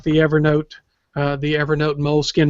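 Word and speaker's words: Moleskine: Evernote uh the Evernote mool skin mool skin is still going to uh make these available um Molin and I realize it's the correct way to pronounce that but I just feel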